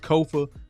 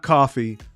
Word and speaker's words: Kofa: I am your host, Kofa, K-O-F-A, not coffee, not, not Kofi, or any variation thereof. Kofa rhymes with sofa. Easy to say, easy to spell.